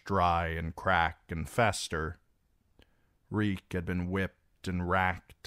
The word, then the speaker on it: Reek: Reek, Reek, it rhymes with meek."